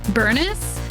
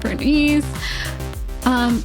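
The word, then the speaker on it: Burnice: had a banner with Burnus, right? That's how you pronounce her name. It's not Bernice.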